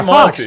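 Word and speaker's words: Fuchs: fox fox fox yeah fox fox yeah yeah not spelled like Fox but pronounced like Fox uh I'd called uh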